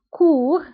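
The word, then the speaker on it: court: الضد نتاع long هو كور هي قصير وكورت قصيرة دونك كور قصير كورت قصيرة فبالنسبة لكور لا ننطقو تي وكورت يعني في المؤنث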